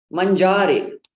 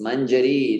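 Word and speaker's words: mañjarī: Okay, here's the one which very often is mispronounced as mangiare. Mangiare. It's almost sounds like the verb to eat in Italian. Mangiare, but it's not mangiare. It is mangiare. Yeah, it's manjari.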